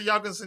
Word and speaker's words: Jorgensen: I don't know whether Jorgensen is the correct pronunciation again, because when he introduced himself, he pronounced his name as Jorgensen. The J wasn't pronounced as Y.